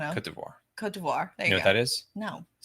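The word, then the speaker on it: Côte d'Ivoire: Cote d'Ivoire.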